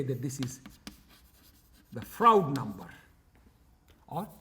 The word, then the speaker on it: Froude: that this is the froude number or f r do not do not pronounce it as fraud number is called froude number ok and this is